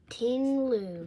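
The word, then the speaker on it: Ting-Lu: No, how you pronounce it? T I N G. Tingloo.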